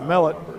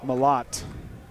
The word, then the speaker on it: Mellott: Kate Kate and some Mellott malotte I'll say it right from now on a lot and